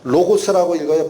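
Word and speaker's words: λόγος: 로고스라고 읽히는 헬라어야. 뜻이 뭐냐? 두 가지로 나눠져요. 하나는 말이라는 뜻도 있어. 또 하나는 법칙이 있어. 여기 발음만 잘 보세요. 로고스라고 읽어요. 빨간 글씨. 로고스에서 말이라는 게 랭귀지야. 로고스에서 랭귀지가 나오는 거야. 발음 비슷하죠?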